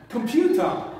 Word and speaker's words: computer: is this computer computer computer is a word having the three syllables come view star okay how many syllables three syll the stress is on the second one computer repeat after me computer